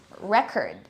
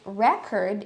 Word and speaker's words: record: we have changing stress patterns like for example record so this word can be used as a noun and as a verb so we say it record if it's a noun and we say record